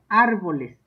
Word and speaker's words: árboles: a cada clasificación árboles árboles lleva acento en la a para que nunca se les olvide eh árboles Por eso quiero que